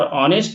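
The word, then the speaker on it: honest: ये ऑनेस्ट है और ऑनेस्ट में एच जो है क्या होता है? साइलेंट होता है। अर्थात इसका जो उच्चारण है इस प्रकार होता है ऑनेस्ट जो कि देखा जाए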